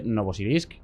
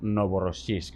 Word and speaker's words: Novorossiysk: de la costa de Novosibirsk. Siempre lo pronuncio mal, es Novorossiysk, ¿verdad?